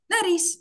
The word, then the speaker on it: nariz: Наріз. Всі. Звертаємо увагу, наголос на передостанній склад, тому наголос на «а» – наріз.